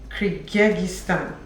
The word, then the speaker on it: Kyrgyzstan: Kyrgyzstan. Please let me not pronounce what I don't know.